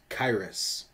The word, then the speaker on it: Qyrus: any that missed it it's pronounced kairis today we have the